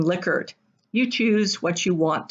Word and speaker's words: Likert: semantic differential questions or likert or liquored and 80 percent of those answering a survey said it was pronounced likert the originator of the scale pronounced his name lickard you choose what you